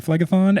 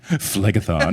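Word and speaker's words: Phlegethon: When Kelly was talking to me about these chapters and she was mispronouncing Flegthon and I was like flegathon like you just sound so cool busting it out.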